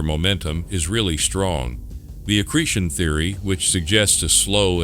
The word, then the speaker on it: accretion: Like the accretion theory or assertion or whichever. It's way accretion. you pronounce. I was saying it wrong.